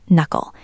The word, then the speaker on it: knuckle: The K is silent. It is just knuckle.